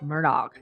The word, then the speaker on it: Murdaugh: Ways so you know they say Murdoch Murdoch Murdoch how do you want to pronounce it Gretch I think we ought to say it like like from the words of Alec himself Murdoch and papa oh my